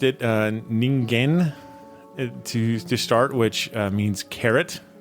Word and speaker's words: Ningen: So it is Japanese, and it's Ningen.